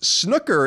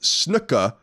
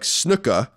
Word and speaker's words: snooker: Snooker is pronounced snooka, like snooka, not snooker.